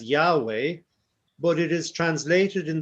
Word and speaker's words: Yahweh: you pronounce this um in the english-speaking countries we tend to pronounce it as yahweh but it is translated